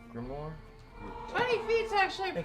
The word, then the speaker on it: grimoire: Grimoire. Grimoire?